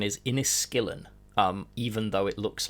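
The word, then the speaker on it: Inniskilling: to remind people that the correct the correct pronunciation is inis skillin um even though it looks like inis Skilling um the inis skill and fusers just no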